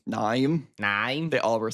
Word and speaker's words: Naeem: No, because of the way it's spelled, it's like Naeem, I guess. But that could also just be how Australians say it. Naeem. Naim?